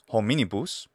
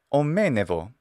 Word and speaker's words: hominibus: a fricative, such as the word hominibus, and that's in the classical pronunciation. Well, by the late Latin period in Italy, it's omenevo.